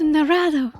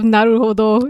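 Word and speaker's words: Naruhodo: It's so terribly pronounced. Mr. Mr. Narado instead of Naruodo, it's Narado. Okay, I'm sorry.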